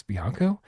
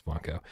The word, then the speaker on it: Blanco: So I was like, is it Alex Bianco? No, it's Alex Blanco.